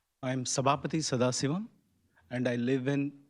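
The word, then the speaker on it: Sabapathy: I am Sabapati Sadas and I live in 57.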